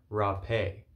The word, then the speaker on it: Rapé: now which is called hape or rape so have is spelled h a p e with an accent on the e or rap a r a p e with an accent on the e it varies uh whether you are in brazil or in other parts of south america such as peru where you would differentiate the two and that's just due